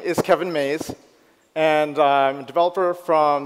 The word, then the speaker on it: Maes: And it's pronounced MAES. But in English, we say maize.